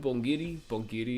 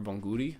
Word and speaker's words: bonguri: for creating Pokeballs, materials, un bongiri is how you say like, or bonguri, I'm saying it wrong, bonguri, is how you say,